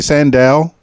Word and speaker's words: Sandahl: Germany world twenty20 including your amazing podcast fabulous all right Sandow I'm trying to pronounce it properly Sandow you got it you got it right there